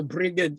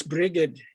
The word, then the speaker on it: Brigid: irish it's all yeah old irish it's got a hard g you know you know so brigade is for us brigid is is you know the goddess bridget or breed yeah i've heard all